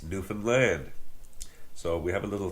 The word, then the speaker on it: Newfoundland: very friendly uh manner we say understand Newfoundland just like that same same syllables same same sort of